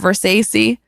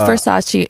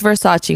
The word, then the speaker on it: Versace: He did say that he can't, but we've always known that he can't pronounce things. What was the song Past That Versace? It's Versace. It's Versace, homie.